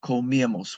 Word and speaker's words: comíamos: Nosotros comíamos. We used to eat, and there's an accent on the I.